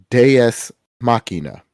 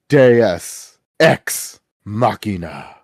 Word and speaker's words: Deus ex machina: You need to say it properly. It is Deus Machina. No, you're missing a word. Say it the way that he says it. This is the Deus Ex Machina.